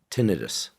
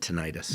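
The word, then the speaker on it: tinnitus: Is that the way it's pronounced or is it tonitis? Most people say tenitis. Okay, emphasizing the itis, the inflammatory part of it. There's actually nothing inflamed. I like tenitis, but tenitis, most often called tenitis.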